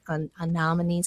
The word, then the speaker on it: anemone: We're into spring, Mother's Day, stock, some of those anemones. I can't pronounce it, but I know what I'm talking about.